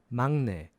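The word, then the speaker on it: 막내: group so that's now it's it's spelled like with the G sound but it's magnet so a little faster that's magnet now for the last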